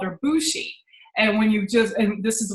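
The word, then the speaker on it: Bushie: way we spelt it, B-U-S-H-I-E, but when you see that, you think bushy, like trees and branches and all that. And I wanted to make sure that people at least knew that we pronounced it Bushi.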